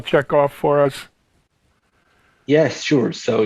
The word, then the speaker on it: Checkov: information on Checkoff 2?